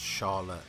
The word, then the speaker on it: Shallot: just take us then Charlotte's name is pronounced Sharla in Japanese her interesting cuz yeh